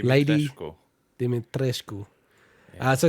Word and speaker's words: Dimitrescu: Well, they don't pronounce it like Romanian pronunciation. But how do you properly say it, Mike? Dimitrescu. Lady Dimitrescu.